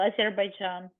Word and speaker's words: Azerbaijan: So again, you pronounce pretty well, Azerbaijan.